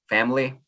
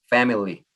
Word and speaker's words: family: I just watched a video today that said that you should pronounce it family, 2 syllables, and I usually say family, 3 syllables.